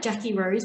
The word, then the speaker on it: Jacquirose: Mine's like Jackie Rose, but Jackie's spelled with a Q, and there's 2 Q's in Jackie. So JACQUIROSE. Jackie.